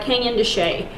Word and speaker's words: Canyon de Chelly: are, you know, like Canyon de Chelly, or, you know, there's. And yes, that's how you pronounce it. Yes, it's not how it's spelled, but that's how it's pronounced.